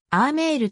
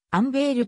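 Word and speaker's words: アーメール: でつながっているヒンディー語ではあーメールと発音するのでアンベールという発音は間違いであるアンベールはラー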